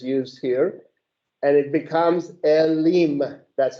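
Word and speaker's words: אֵלִים: and it becomes Elim. That's how you pronounce it. Elim.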